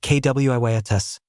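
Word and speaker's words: Quietus: It's the quias charm pronounced kwiatus.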